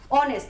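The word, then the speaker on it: honest: এখানের মধ্যে এইচটা সাইলেন্ট, তার জন্য আমরা বলবো আওয়ার। অনেস্ট, তার জন্য তার আগে আমরা অ্যান বসিয়েছি।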